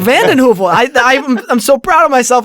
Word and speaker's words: VandenHeuvel: Yeah, VandenHeuvel. VandenHeuvel. I'm so proud of myself I pronounced the last name correctly.